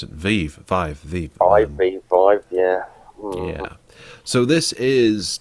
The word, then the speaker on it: Vive: It was the HTC, I've forgotten how to pronounce it, Vive, yeah.